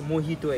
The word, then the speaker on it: mojito: It's pronounced as mojito actually.